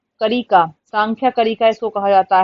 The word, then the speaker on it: सांख्य: The word समख्या, समख्या लिखा है लेकिन सांख्या बोलते हैं, प्रोनाउंसिएशन में कहीं एन मिल जाएगा एम मिल जाएगा, उसमें कंफ्यूज नहीं होना है।